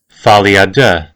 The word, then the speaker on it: folie à deux: Folie à deux.